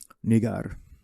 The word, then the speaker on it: Niger: It's actually pronounced Niger. Nigar.